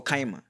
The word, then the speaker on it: Chima: Is it Chima or Kaima? Kaima music or Chima? It's Chima music. Is it? Yeah, but pronunciation, a lot of people say Kaima.